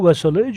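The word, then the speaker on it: Velázquez: Diego Vassalage, a Spanish masterpiece artist of 17th century. इसका उच्चारण Spanish में थोड़ा डिफरेंट है, इंग्लिश में उच्चारण कर रहे हैं हम.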